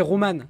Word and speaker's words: Roman: Et même pour dire, normalement c'est Roman. Ça se dit Roman normalement. Roland, hein. Roman. C'est avec un, c'est avec un M.